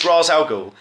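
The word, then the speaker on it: Ra's al Ghul: you know what no his name is razal ghoul that's how you say it will ignore everything else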